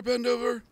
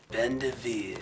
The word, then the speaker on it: Bendover: Bendover? It's pronounced Bendeveer.